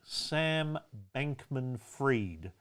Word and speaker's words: Sam Bankman-Fried: Sam Bankman-Fried. Fried is spelt fried, like an egg.